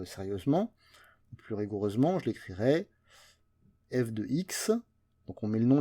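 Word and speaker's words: f(x): Donc cette partie-là, ça se prononce f de x. On ne dit pas f parenthèse x ou ce genre de choses. On dit f de x égale 2x plus 3.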